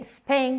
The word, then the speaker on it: Spain: of this word is we say spain with an e but it is an s not an e the tendency is that